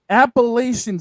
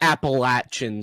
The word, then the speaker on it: Appalachian: And also, it's not Appalachian State, ESPN. It's Appalachian. I think the reason why they say it is because of the Appalachian Mountains, because that is how you pronounce that.